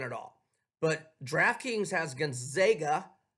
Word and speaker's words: Gonzaga: But DraftKings has Gonzaga. You say Gonzaga, I say Gonzaga. I say it correctly.